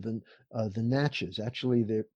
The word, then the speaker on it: Natchez: And in researching them, I found that there was a tribe called the Natchez. Actually, they pronounce it Nachi.